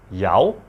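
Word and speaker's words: 有: Yao. That's tone number 5, Scoopy tone.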